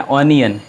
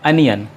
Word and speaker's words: onion: और इसे normally English में बहुत सारे लोग प्रोनाउंस करते हैं ऑनियन, क्योंकि लिखा हुआ है ऑनियन, लेकिन इसका सही प्रोनाउंसिएशन है अनियन.